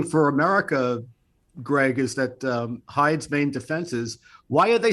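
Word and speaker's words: Heide: guy's name is curtis hyde h-e-i-d-e i think is how you say it worked in the fbi's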